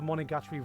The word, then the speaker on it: Monogatari: solving supernatural phenomenon in each arc, I feel this is where most people got the Monogatari vibes from, and I use that as a compliment.